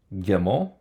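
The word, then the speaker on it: גימל: Gimel also takes dagesh. It's a G. With the dagesh, it's a harder G.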